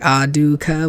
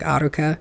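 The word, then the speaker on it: Alluka: you can't put like, it wouldn't work to be like Aduka with like a D. It would have to be like a flipped R, like Aruka, because they don't say it like Aluka in the Japanese version.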